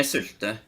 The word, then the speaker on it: sylte: I see that this word comes from Norwegian Nynorsk's silte. Is that the right pronunciation? Yeah, sylte. Sylte.